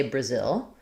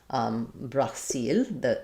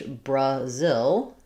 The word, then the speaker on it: Brazil: So in English, we say Brazil, not the same as they say in Brazil. Brasil, I think this is probably how they say it in Portuguese. Maybe a little bit different on the L. But in English, Brazil, second syllable stress.